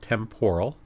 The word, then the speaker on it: temporal: Then we have the temporal bone. Some people pronounce that temporal.